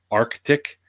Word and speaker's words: Arctic: Um the proper pronunciation of the word is Arctic.